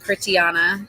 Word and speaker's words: Kritanya: Well, my name's pronounced Kritanya, so you can call me for short.